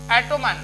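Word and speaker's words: autumn: तो एम के बाद में जो एन आएगा वो साइलेंट रहेगा और एन एस से पहले पी आएगा वो साइलेंट रहता है। जैसे एटोमन, तो एटोमन में एम के बाद वाला जो एन होता है उसको नहीं पढ़ा जाता है।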